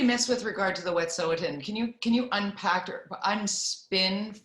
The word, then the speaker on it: Wet'suwet'en: Yeah, which I keep pronouncing wrong, and I need to do better there. It's actually Wet'suwet'en.